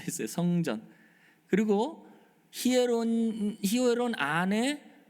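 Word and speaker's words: ἱερόν: 근데 성전이 예 히에론 강순가 붙어서 이오타의 강등표가 붙어서 히에론이라고 읽죠.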